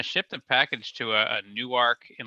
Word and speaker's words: Newark: I was like hey you got a newark new arc as well and he's like well we pronounce it Newark that's what you say